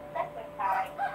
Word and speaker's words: secretary: So, secretary. Secretary. O, yan ang tamang sagot. Tayo nahanap kasi natin yung first syllable. Stress sa first syllable.